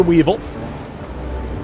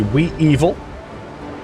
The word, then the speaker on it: Weevil: Okay, so heading to the Weevil, or the Wee-Evil, if you want to say it wrong.